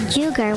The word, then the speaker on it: jugo: You're saying it huevo instead of instead of jugo, which is pronounced like jugar. Jugar? Yes, it's an H.